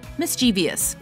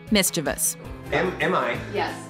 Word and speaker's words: mischievous: get that number nine mischievous common mispronunciation mischievous correct pronunciation mischievous maybe some mischievous imp added an extra eye